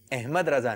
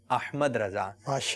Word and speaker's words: احمد رضا: نام ہے احمد رضا، تو احمد رضا نہیں، احمد رضا۔ تو یہ اس طرف بھی ہم نے توجہ رکھنی چاہیے۔ اگر کوئی آپ کو بولتا ہے احمد رضا، یہ آپ کے نام کا درست تلفظ نہیں لیتا، تو آپ تھوڑی سی توجہ دلا دیں، میرا نام احمد رضا ہے، احمد رضا نہیں ہے۔ اسی طرح امیر السنت